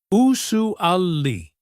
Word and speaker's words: usually: Usu ali. Listen to that sue sound. It is like zu.